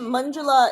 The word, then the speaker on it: Manjula: There's a girl, Manjula, is an Indian name. Manjula is... It sounds like M-U-N, Mun, but it's actually M-A-N. Manjula.